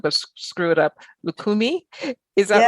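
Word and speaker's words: Lucumí: Lukakumi, is that right?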